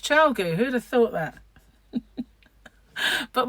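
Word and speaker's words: ChiaoGoo: knit pros i have clover and tulip and chow goo yeah it's pronounced chao gu who'd have thought that but we do and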